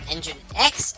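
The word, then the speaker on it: nginx: And engine X also doesn't seem to be affected by this.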